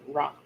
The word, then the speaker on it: wrought: broth gate wrought iron wrought iron rot just say it's not spelled like this but basically like rotted meat just just saying oh